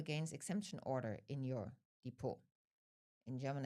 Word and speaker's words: Depot: In Germany, it's called depo. Um in English it's often referred to as a securities account. It's depo spelled like d e p o t.